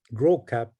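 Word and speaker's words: Gros Cap: here to what is called gross cap grow cap in in french or now we we pronounce it in english grow cap it nana bush was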